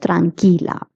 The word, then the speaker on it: tranquila: The QUI in Spanish is pronounced as ki. Like QUE is pronounced as que, QUI is pronounced as ki. Tranquilo, tranquila.